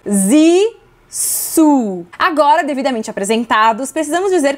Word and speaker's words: Zissou: Como pronunciar Zizou? Vamos lá, repete com a gente. Zissu.